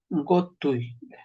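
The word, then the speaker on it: qotuy: La letra Q se pronuncia por una G.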